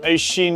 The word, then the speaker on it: Oisin: Oisin Rogers.